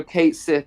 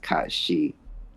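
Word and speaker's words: Cait Sith: in incredible detail yeah I shouldn't and also Kate Sith is actually pronounced Kate Sith it's not pronounced Kat shei or whatever we thought it was going to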